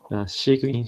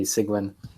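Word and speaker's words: Cygwin: Sigmin should be. Did I spell it wrong? Oh, yes. Yeah, I haven't used it. I only hear people say it. Yes. So that should be Sigwin.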